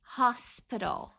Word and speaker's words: hospital: Hospital. Hospital. I work at. Olha como fica diferente a pronúncia. Rápido do que devagarzinho. I work at. Era hospital, tá? É soprado, ó. Hospital.